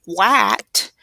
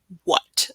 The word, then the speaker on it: what: So, again, It doesn't sound like there should be an H in there, right? But we need that WH to make that W sound. And then this isn't going to say wat, it's going to say what. So it's that schwa.